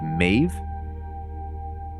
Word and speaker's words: Maeve: Oh, her name rhymes with wave, so it's really Maeve.